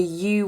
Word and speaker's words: EWE: It's called the U Wedding Fair. It's spelt EWE and it stands for the Eclectic Wedding Extravaganza.